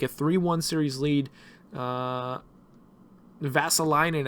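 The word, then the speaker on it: Vesalainen: 3-1 series lead uh vassaline actually is how he pronounced his name i just remembered how to pronounce his name so uh ves visalinan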